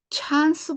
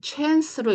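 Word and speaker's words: chance: 나는 소리예요 자 그래서 이거를 찬스 보다는 챈스로 읽는게 더 맞으시고요 자 n 니은이 소리죠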